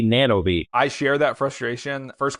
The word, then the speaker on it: Nanovis: Yes, we still get feedback that we don't say it right, but we can say it however we want, right? We chose to be Nanobi.